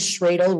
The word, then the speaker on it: Schroedl: And by the way, my last name is Schroedl, rhymes with dreidel or cradle.